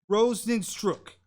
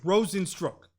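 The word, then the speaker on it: Rozenstruik: tonight UFC Fight Night saturday folks we got pronounced rosin stroke okay rosin stroke well he got starched and it look like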